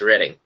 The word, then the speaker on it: Reading: quite sure why cuz it does look like it says reading but in fact it's ready are spelled one way pronounced another all right Keith I